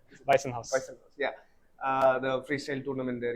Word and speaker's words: Weissenhaus: Am I pronouncing it correctly? Weissenhaus.